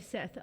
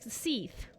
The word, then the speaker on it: Seath: I only bring that up because you said, imagine if your enemy was named Seth. No, that's fair. It's Seath. Spell it like you say it, Seath.